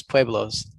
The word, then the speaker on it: pueblos: And then their small towns were known as pueblos. That's how you say it in Spanish.